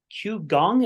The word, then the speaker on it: qigong: Is that Qigong? Is that how they pronounce Gong, Qigong. Qigong? Yeah. Qigong.